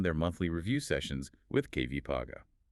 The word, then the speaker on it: KVCOG: we are going to make sure we pronounce this acronym correctly. Yes, please do. They are working with the KBEC Valley Council of Governments known as KVs. That's KV Paga.